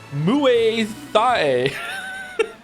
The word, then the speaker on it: Muay Thai: Muay Thai.